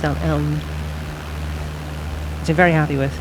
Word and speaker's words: Ellen: It's pronounced as Ellen. Ellen, E-L-L-E-N. Ellen, like Helen.